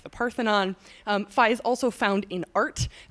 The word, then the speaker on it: Phi: kind of awesome now Phi is sometimes pronounced fee by pretentious mathematicians trying to make everyone